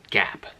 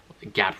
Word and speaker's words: GAAP: I'll talk about is GAAP GAAP that's how I just pronounce it and it stands for